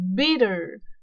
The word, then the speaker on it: bitter: 我们那个 t 我们其实就是念非常重，就是 t 的那个音 bitter，我们很明显那个 t 是这样子。但是其实如果我们仔细去听美国道地人士发的英文呢，它其实这个 T 啊，它已经变成有点快接近 D 的那个音了，它发起来是有点像是 bitter，那个 T 它不会再发那么重了，已经有点接近快有点接近那个 D 的那个音了，它那个 T 变成一个轻轻往上弹一下的那个音 bitter。